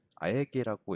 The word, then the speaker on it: AEG: 이 디자이너가 주로 활약했고 활동했던 회사가 AEG, 아에게라고 읽더라고요.